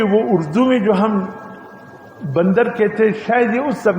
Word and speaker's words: بندر: بندر اس کا نام رکھا ہے. میں نے کہا استغفر اللہ. پہلی بات تو یہ کہ تلفظ تم غلط پڑھ رہے ہو. یہ بندر ہے، بندر نہیں ہے، زیر ہے.